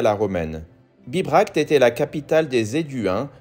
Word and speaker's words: Bibracte: C'est dur à prononcer. Bibracte.